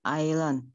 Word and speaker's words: island: Titik-titik island. Island ya, walaupun ada S-nya tetap dibacanya island, jangan Island ya, island.